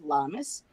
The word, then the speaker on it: Lammas: It's called the Christianized version of it is called Lammas.